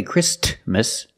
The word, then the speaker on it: Christmas: Christmas we don't say Christmas the t is between consonants so it is silent link the sound with